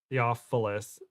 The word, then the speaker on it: Theophilus: is French o yeah Theophilus it it's Theophilus yeah thank you but I like